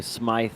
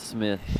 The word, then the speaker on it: Smith: good job it's perfect only way somebody butchers my name is if they go smythe instead of smith i'm sure that does